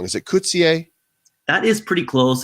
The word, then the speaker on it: Koetsier: Is it Koetsier? That is pretty close. It's a smart mispronunciation. It's Koetsier.